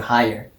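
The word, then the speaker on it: Haier: pronounce it that's cool yeah sounds like higher yeah okay higher but um it's like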